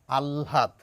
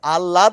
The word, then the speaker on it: আহ্লাদ: নিয়েও আমাদের সমস্যা নেই তাহলে এই শব্দটির প্রমিত উচ্চারণ হচ্ছে আলহাদ একটু চেষ্টা করুন একেবারে একবারেই পারবেন না চেষ্টা করুন চেষ্টা করুন চেষ্টা করুন ল ল ল আর ল ল ল তাহলে আল্লাদ নয় আলহাদ নয় আলহাদ সকলকে ধন্যবাদ